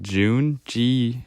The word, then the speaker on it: Jun: the ek9 built by you say it like June G or j-u-n very famous in the